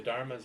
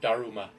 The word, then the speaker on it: Daruma: by the way the Dharma's are something from Japanese culture by the way if you're wondering what the heck I'm talking about u.s. pronunciation dharma japanese pronunciation through Daruma so it's also strange